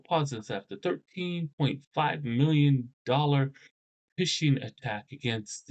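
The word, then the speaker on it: phishing: It's pronounced fishing as though you're fishing for uh uh you know fishing on a boat and stuff, but uh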